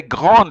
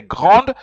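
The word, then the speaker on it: grande: pronounce it but yeah you have to pronounce the d you have to say Grand Concourse the technology so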